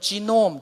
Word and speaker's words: 게놈: 한번 따라 해 보실래요 게놈 프로젝트 발음 잘하셔야 되요 잘못하면 이상한 욕하 여 개가 아니고 됩니다 이 경 험 값에 필요해 예 베놈 프로젝트 개 놈 이라는 것은 뭐냐면 개라는 것은 독이 10 바랍니다 영어로는 지놈 g2 뮤 전인 자란